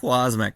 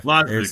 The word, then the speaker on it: Wosmek: Wosmek. So yeah, Wosmek, there we go.